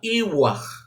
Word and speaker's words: Yahvé: la forma primitiva de Yahvé, que se pronunciaba Iwah.